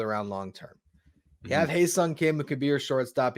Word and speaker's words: Ha-Seong Kim: Firstly, I want to just say before the Padres fans get mad at me and potentially you, it's Ha-Seong Kim, just to pronounce it correctly.